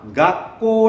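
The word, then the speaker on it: 学校: 학교 이렇게 발음을 하지만 일본 사람들은 당연히 학교 라고 한국식으로 바로 하지 않겠죠 일본식 발음을 할 겁니다 그럴 때 이걸 뭐라 오느냐 가꼬 라고 발음합니다 그럼 선생님은 어떻게 이건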